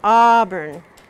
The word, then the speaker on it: auburn: a yeah it's aurn Auburn now we to say this word you have to say autumn autumn and it really is